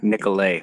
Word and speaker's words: Nicolay: There, I want to say Nicolay. That's probably spelled differently than it's pronounced.